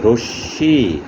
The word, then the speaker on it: রশ্মি: শব্দের শেষেও ঠিক একই রকম মফলা যদি যুক্ত থাকে বর্ণটি দুইবার উচ্চারণ হবে, যে বর্ণের সাথে যুক্ত থাকবে রশ্মি, র তালিব ব্যাস মফলা রশ্মিকার। এখানে শেষ বর্ণ তালিব ব্যাসের সাথে মফলা যুক্ত আছে, তালিব ব্যাসে দুইবার উচ্চারণ হচ্ছে রশ্মি।